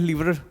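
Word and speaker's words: livre: ये लिवर्स क्या होता है, ये लिवर्स जो है ये प्रोनाउंसिएशन गलत है इसका, ठीक है, ये लिवरे है, लिवरे, जो कि फ्रांस की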